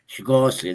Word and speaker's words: Swarovski: Swarovski. Swarovski, that's the one. Swarovski. Yeah, that's the one. Thank you. I'll teach you to pronounce it yet.